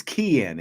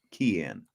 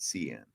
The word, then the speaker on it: Kean: able to oh sorry it is Kean it is a hard C Kean not Cen all right um that's